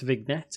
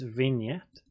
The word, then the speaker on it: vignette: Not pronounced vignette, it is vignette.